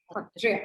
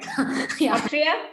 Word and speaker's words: Sattriya: speak, I feel like you should just say Hotria. Hotria? It sounds so good. Yeah. We'll try, Yeah, sure. Yes. Say it like it is. It's for us to learn what the correct pronunciation is.